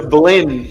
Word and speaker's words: Blinn: He went to Blinn Junior College. It rhymes with Glenn.